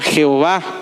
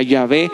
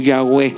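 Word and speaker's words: Yahweh: tradujo a nuestro idioma jehova pero realmente la el pronunciamiento correcto la pronunciación correcta sería llave o yagüe de acuerdo a algunos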